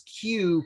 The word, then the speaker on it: queue: way remember the way to pronounce the q prop to pronounce q properly is to just say the first letter and ignore all the other ones qq is equal to